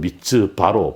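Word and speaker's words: mitzvah: 바르는 아들, 이제 아람어입니다만 아들이라는 뜻이고, 바트는 딸인데, 미츠바라는 말 자체가 영어로는 미츠바라고 하던데요. 가능하다면 미츠바로 발음해 주세요.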